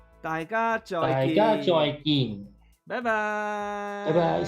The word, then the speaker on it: 大家再見: The pronunciation is 大家再見. You got it? 大家再見. Yes, perfect. Okay. Okay, then on 3, okay? 3, Okay. 2, 1. 大家再見.